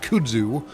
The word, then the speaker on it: kudzu: story called the Babaverse about how Kudzu, although he pronounces it Kudu, the uh the person that I was listening to read the book, that is the audio book, the audiobook uh reader pronounces it kudzu, and everything I've ever heard pronounces it kudzu.